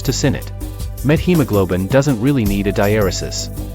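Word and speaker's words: methemoglobin: than K plus hodos the OED records both pronunciations with/ t.h and pronunciations with/ Theta for met hemoglobin while analogy with hemoglobin and awareness of the presence of the met a prefix probably will cause most English speakers to naturally pronounce SL t.h in this word it shouldn't be seen as an error to use SL Theta slash es shock is an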